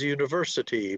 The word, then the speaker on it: university: Okay, well, it would be the one that's a little different is university because it has stress on the third syllable, not the second.